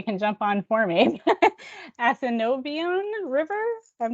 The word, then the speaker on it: Assiniboine: Assiniboine River? I'm not sure. It's the Assiniboine.